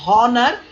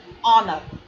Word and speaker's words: honor: You don't pronounce the letter H. It is not honor, it is honor.